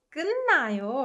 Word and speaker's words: 끝나요: 끝나요, right? 으뜨. It softens to 은, right? And 끝내요. It softens to 은 again when it meets 느. So 끝나요.